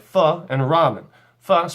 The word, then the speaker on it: pho: too much our next craving are things like thaw and ramen thought spelt pho it's not pronounced foe is it delicious Vietnamese soup similar to ramen